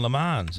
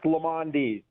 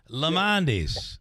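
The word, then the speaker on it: Lemondes: It's Lamondis. Okay. Three syllables. Listen, I just said that, and they both corrected me. Lamondis.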